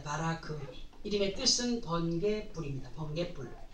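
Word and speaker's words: ברק: 그리고 이제 바락에 대하여서인데요, 이 바락의 히브리식 발음은 바라크입니다. 바라크.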